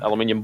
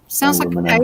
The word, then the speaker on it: aluminium: Yes, aluminum. That's only the U.S. pronounces it that way, and the rest of the world who do know the correct way to say it say aluminium. Aluminium.